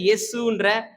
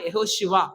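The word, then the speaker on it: יהושע: நம்ம அதோடைய கிரேக்க உச்சரிப்புல இயேசுன்ற உச்சரிப்பு நம்ம செஞ்சுக்கிட்டு இருக்கிறோம். ஆனா எபிரேய உச்சரிப்புனா யெகோஷுவா அப்படின்றது யோசுவா தான்.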